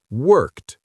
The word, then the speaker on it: worked: How do we pronounce the letters ed at the end of this word? Is it d, t, or id? It's B, t, worked.